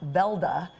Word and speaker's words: Weldy: Now, your history of the Weldy Bears actually goes back to the early 1920s. Yes. And they ended up in Hollywood. That's right. My husband's grandfather, Johnny Johnson Weldy, actually pronounced Velda in Norway, came from Norway with